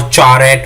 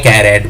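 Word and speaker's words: charAt: इसको मतलब कुछ अमेरिकन जो ट्यूटर्स हैं या जावा कोडर हैं वो चार-एट बोलते हैं और ब्रिटिश में कैर-एट बोलते हैं।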